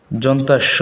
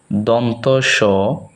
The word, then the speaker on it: দন্ত স: আমরা অনেকেই এটাকে যন্তাস্য বলি, আসলে এটা ভুল, মূল উচ্চারণ হচ্ছে দন্ত স, হ, হ, ডয়ে বিন্দু র, ডয়ে বিন্দু র।